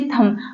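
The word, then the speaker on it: thumb: है यहां पर देखिए थम आप थंब नहीं कहेंगे थम कहेंगे थम सब कहते हैं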